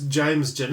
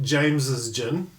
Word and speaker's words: James Gin: with James Jin and it's James Jin it's not James's Jin no apostrophe um like it's like